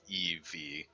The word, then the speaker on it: Eevee: It's like Evie. It's just Eevee. Adam and Eevee.